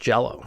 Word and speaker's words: Jellÿ: Green Jellÿ, insisting that the umlaut over the Y meant it was still pronounced Jello.